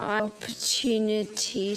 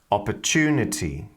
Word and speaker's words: opportunity: idea in this feature she's pronouncing the TU sound as a CH sound this is really really typical of modern British English as well as Australian English forunate opportunity so whenever you see a tu like that you can pronounce them as a CH sound so these different words sound like fortunate opportunity actual the London Tube YouTube now this is